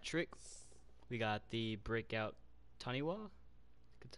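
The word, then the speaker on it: Taniwha: We got the breakout Taniwa. That's how you pronounce it.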